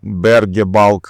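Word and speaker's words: Berge Bulk: Напротив двигался ещё один балкер компании Berg Balk, как мне сказали, так оно правильно читается.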